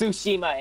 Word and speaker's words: Tsushima: It's Tsushima, it's spelled T-S-U-S-H-I-M-A.